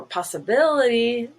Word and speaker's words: possibility: two are above possible now for possibility the stressed vowel shifts or the syllable stress shifts and it's now the second eye which is silver bility and you have to say the last one is green possibility so it's no longer